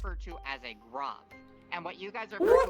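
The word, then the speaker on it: grav: It's G-R-A-V. Alright, so you know You pronounce it still grov.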